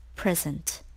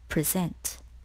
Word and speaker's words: present: word number 21 is present or present the word present or present can be pronounced in two ways even though they share